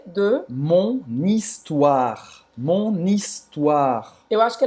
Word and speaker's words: histoire: na hora da emoção de que não era histoire, que é histoire. Histoire. Histoire. Ele falou como se escreve, Sim. como se estivesse lendo em português, tá?